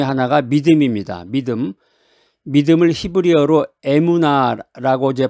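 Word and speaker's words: אמונה: 믿음을 히브리어로 에무나라고 이제 발음하는데이 단어는이 믿음이라는 말은 단순한 동의나 확신을 넘어서 신뢰하다, 충실하다, 견고 견고함을 갖다 이런 의미가 있습니다.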